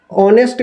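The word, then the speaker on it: honest: हुआ है ना तो ऑनेस्ट एच से शुरू हो रहा है लेकिन एच से शुरू भले हो रहा है लेकिन उच्चारण जब करते हैं तो इसका ऑनेस्ट करते हैं ना ऑनेस्ट उच्चारण करते हैं तो ऐसी स्थिति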